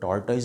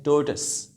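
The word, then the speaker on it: tortoise: और उसके बाद अगला वर्ड है, हम आम तौर पे इसको टॉर्टोइस बोलते हैं, तो इसकी प्रोनाउंसिएशन ज़्यादा इंटरेस्टिंग है, ये है टोर्टस, टोर्टस।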